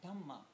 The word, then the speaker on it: Dhamma: The Buddhists define it, kind of pronounce it differently. Dhamma.